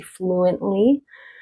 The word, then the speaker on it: fluently: Again, you could pronounce it fluently, but I'm going to say fluently because we have the N and the L.